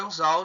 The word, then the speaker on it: anzol: Então, a palavra anzol, nós temos 2 sílabas. A última e a penúltima. Anzol. Anzol. O mais forte aqui é o zol.